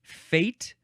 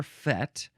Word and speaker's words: fête: Now we have the word fate or fête, pronounced either way.